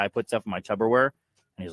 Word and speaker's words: Tupperware: When the guy says, "Wait, hold on," say the first syllable. Tub, wrong. Tupperware. How do you say Tupperware, Shane? Do you say Tupperware or Tupperware? No, with a P.